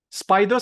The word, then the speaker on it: SPDR: I hope I hope spider something it's not spider something they they actually it's a nickname spider is a nickname for spdr okay spdr okay they they pronounced as Spider but they are actually